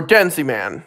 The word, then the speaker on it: Denjiman: the 4th Sentai series, Denjiman, or Denziman. It tends to vary. It depends on pronunciation. I personally call it Denjiman.